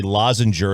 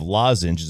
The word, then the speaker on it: lozenge: New York area say lozenger instead of lozenges is correct answer uh the medicated tablet spelled lozenge and pronounced lozenge in standard English however Oxford English Dictionary